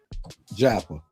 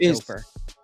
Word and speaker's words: Joppa: How was it pronounced? Joppa. Joppa. I used to call it Joper.